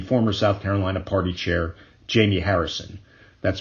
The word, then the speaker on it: Jaime: Graham's Democratic opponent will almost assuredly be former South Carolina Party Chair Jamie Harrison. That's spelled Jaime, in case you want to donate.